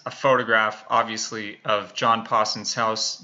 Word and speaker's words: Pawson: photograph obviously of John Paulson's house no I am NOT saying my name incorrectly it's Paulson I do not have a speech impediment so I'll show you